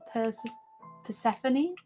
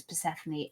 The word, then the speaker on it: Persephone: Have you read the story of Hades and Persephone? I heard you almost pronounce it the same way I used to pronounce it.